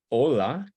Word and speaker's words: hola: try these together um hola hola hola right emphasis on the o because it ends in a vowel so hola hola hello